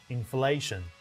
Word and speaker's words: inflation: Do you put the stress on first syllable, inflation, or the second syllable, inflation? Which one is correct? Which syllable should be stressed? The second syllable, inflation, both American and British.